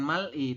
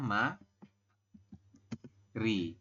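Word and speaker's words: 말이: Mal I gitu ya Anda membacanya bukan Mal I tapi di dibacanya adalah Ma Ri seperti ini kalau hangelnya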